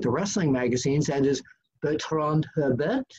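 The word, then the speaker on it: Bertrand Hébert: wrestling magazines, that is Bertrand Herbert. Did I pronounce that right? Exactly, Mr. Apter.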